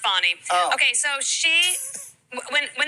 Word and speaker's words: Fani: Fanny chances F I call her it's F Fanny but pronounced fonnie okay so she when when this all first